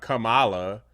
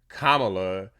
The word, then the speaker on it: Kamala: name pronunciation issue because she said uh Kamala rather than Kamala they want to focus